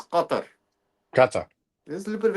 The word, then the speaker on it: Qatar: But it's very guttural. Gar if you really want to say it properly, it's gutter.